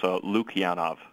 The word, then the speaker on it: Lukianoff: Well, it's not really spelled that much like it's pronounced, and it's Lukianoff.